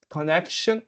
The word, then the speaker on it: connection: Connection is the same pronunciation but different levels of stress. Your pronunciation was fine, however, the stress needs to be fixed. Connection instead of connection.